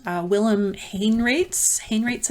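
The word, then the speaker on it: Haenraets: called Willem Hayne rates Hain rates I think is how maybe how you say it maybe how you say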